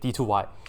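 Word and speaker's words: d²y: It's not really like d squared, but we put on d2y. That's how you say it, d2y.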